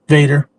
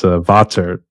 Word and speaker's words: Vater: So that's what I love to use, or Vader. People keep pronouncing it wrong there too. It's actually German. It's Vater, not Vader.